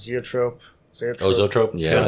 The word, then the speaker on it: zoetrope: I'd like to do, how's it pronounced? Zoetrope? Oh, Zoetrope? Yeah. Zoetrope, yeah.